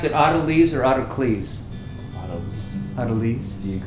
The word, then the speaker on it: autolyse: Autolese. Do you pronounce it Autocles?